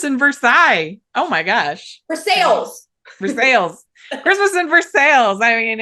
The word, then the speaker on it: Versailles: for sales. Christmas in Versailles. I mean, I know Christmas in Versailles. It's going to be pronounced Versailles.